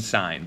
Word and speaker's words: sine: Don't say sin though. Don't say cos and don't say tan. Please say tangent, cosine, and sine. That is the way to properly pronounce these.